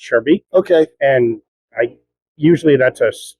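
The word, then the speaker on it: Schaerbeek: It's pronounced Charbeek. Those are SHE? there could be an alternative spelling, but usually it's Charbeek.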